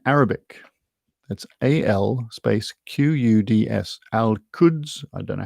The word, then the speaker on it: Al-Quds: Al-Quds. I don't know how you pronounce it.